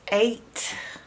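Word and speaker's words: eight: The next strange sounding number is 8. 8. 8 is spelled E-I-G-H-T. So this is a vowel team that consists of 4 letters. 4-letter vowel team. So this is the part that you learn by heart. The E-I-G-H makes the long sound A,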